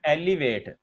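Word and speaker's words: elevate: जरा गौर कीजिए मेरी प्रोनाउंसिएशन के ऊपर. एक होता है एलिवेट, उसका मतलब होता है बुलंद होना, ऊपर चढ़ना, ऊपर उठना वगैरह. एक होता है एलिविएट, तो एलिविएट का मतलब होता है खत्म करना, कम करना, मतलब खत्म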